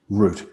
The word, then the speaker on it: Rutte: And the correct pronunciation of your surname, is it Rutte or Root? Root, like a tree. Root, good.